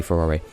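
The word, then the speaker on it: Farore: And I think I mentioned before, I've always pronounced it Faro, even though it's Japanese, so it's probably Furore.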